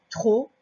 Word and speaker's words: trop: Alors, trop, c'est comme ça. À la fin, il y a un P. On ne sait pas pourquoi il y est, mais il y est tout le temps.